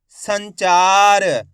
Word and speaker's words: संचार: तो मिलके बन जाएगा संचार। आइए समझ में, एक बार फिर से देखिए, साम अनुस्वार की मात्रा सन, चामा की मात्रा चा र, तो मिलके बन जाएगा संचार।